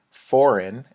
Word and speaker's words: foreign: second language education remember foreign sounds like four in we don't really pronounce the G foreign and second language education